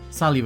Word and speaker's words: Salyu: Even the nickname Salyu has meaning. I don't think Machido noticed at all, but it's pronounced the same as salute, which means hi in French.